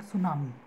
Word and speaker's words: tsunami: So what happens is, that is what is called tsunami. Such waves generated by earthquake or volcano occurring on the ocean floor is called tsunami. T is silent, basically.